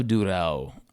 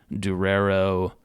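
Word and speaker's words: Durão: Antonio Durao. I'm so sick of hearing people mispronounce this guy's name. I've heard too much Durero, Dureo. Just fucking deal with it, man. Sound it out.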